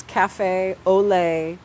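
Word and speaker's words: Café Olé: On Instagram, I go by my burlesque performer name, which is Cafe Ole, like French, Ole, like Spanish, at Cafe Ole Ole.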